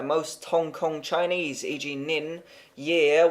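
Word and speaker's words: 年: Hong Kong Chinese EG nin year would be pronounced like the English lean try not to stress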